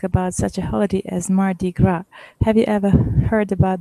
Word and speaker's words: Mardi Gras: it you're welcome uh mardi gras yes s is not pronounced because it is of the french origin it is the word